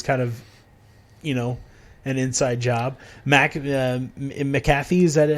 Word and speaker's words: McAfee: McAfee, is that how you say it? Yeah, McAfee.